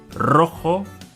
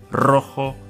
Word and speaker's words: rojo: Rojo and rosa start with the R, so they make the R sound. Carro, rojo, rosa.